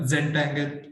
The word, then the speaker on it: Zentangle: And also many other techniques such as Pomerado Zentangle. Am I pronouncing it right? Yeah, Zentangle, and maintaining a dream journal, maintaining I and me group.